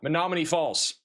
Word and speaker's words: Menomonee Falls: be a big tornado, we think, near uh Menomonee Falls. I somehow got the pronunciation right that time.